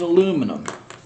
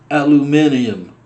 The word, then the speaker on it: aluminium: This one's aluminum. Or for all my friends across the pond who can't pronounce English, aluminium.